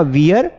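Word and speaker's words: wear: तो ये जो वर्ड है ना वियर, इसको एक्चुअल में प्रोनाउंसिएशन है इसका गलत किया जाता है। पीपल कॉल इट वियर, ये वियर नहीं है, ये वेयर है, वेयर, वेयर क्लोथ्स।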